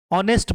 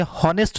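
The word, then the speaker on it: honest: इसे रिसिप्ट नहीं पढ़ेंगे, इसे रिसीट पढ़ेंगे, और इसे ऑनेस्ट पढ़ेंगे, हॉनेस्ट नहीं पढ़ेंगे।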